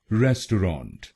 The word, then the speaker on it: restaurant: रेस्टोरेंट, रेस्टोरेंट, रेस्टोरेंट, रेस्टोरेंट, रेस्टोरेंट, रेस्टोरेंट। और ये ध्यान रखिएगा कि हमको पहले शब्दांश पर यानी RES पर जोर डालना है, रेस्टोरेंट, रेस्टोरेंट।